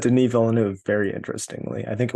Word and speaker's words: Denis Villeneuve: He said Denis Villeneuve. Very interestingly, I think it was Dennis Villeneuve or something.